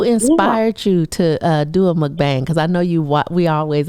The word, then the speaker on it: mukbang: And it's spelled Mukbang, MUKBANG, but it's pronounced Mukbang.